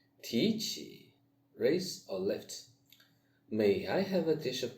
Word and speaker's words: 美: May, the same as May, 美丽, beautiful.